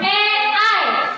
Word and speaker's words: AI: Tapi bacanya AI sesuai dengan penggunaan bahasa Inggris.